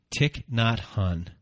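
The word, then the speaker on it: Thích Nhất Hạnh: a poem that you're going to read by tick not hunt did I say it correctly yes we did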